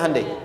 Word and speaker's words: Hyundai: bikin Honda sini hundai Hyundai kan dibacanya hundai ya kan sana Honda